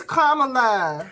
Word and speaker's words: Kamala: However, for the people who were like, oh, that's why, Kamala lost. No, because we still only make Kamala. That's why. It's Kamala.